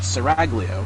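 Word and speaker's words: Serraglio: Jonathan duck now to the inside then of tweezer uh heading down apparently it's called seraglio as it turns out or some Italian pronunciation of that as they make their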